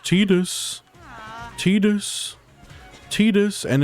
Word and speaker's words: Tidus: It's pronounced Tidus.